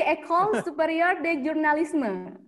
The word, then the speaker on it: École Supérieure de Journalisme: Kalau Prancis bukan jurnalisme. Seperti Indonesia gitu, seperti orang Banda Aceh gitu. Oh, berarti École Supérieure de Journalisme.